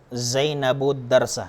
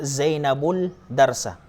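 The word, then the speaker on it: زينب الدرس: Hindi po natin sinabing taktubu Zainabul darsa. So hindi po nabigkas ang lam dito sapagkat ang sumunod po sa alif walam, ang sumunod po sa kanyang letra ay dal.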